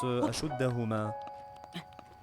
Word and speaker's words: أشدهما: Quand ils sont deux, ça se prononce Ashuddahuma.